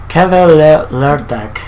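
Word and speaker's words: Kvelertak: Kevelertak. Oh, sorry, not pronounced. There's no E there.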